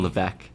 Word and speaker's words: Levesque: Levesque in Good Luck spelling levec no it's like weakness it really is it